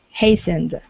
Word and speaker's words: hastened: very good let's uh practice the word hastened hastened without okay yeah yeah without the T Hast okay uh let's